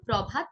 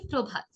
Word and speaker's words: প্রভাত: শব্দের শুরুতে যদি রফলা থাকে তাহলে খুব স্বাভাবিকভাবে উচ্চারিত হবে, ওই বর্ণের বা ধ্বনির দ্বিত্ব হবে না।